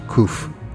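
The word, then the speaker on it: קוף: In the symbolism, 100 has the letter Kof, pronounced Kuf, the back of the head.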